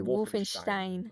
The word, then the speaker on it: Wolfenstein: I say Wolfenstein.